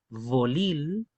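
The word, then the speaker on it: folil: El sonido que es con los dientes y los labios, ya no es la B castellana.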